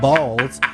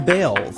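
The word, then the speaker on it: Baals: After all, the family did change the pronunciation of their last name from Balls to Bales.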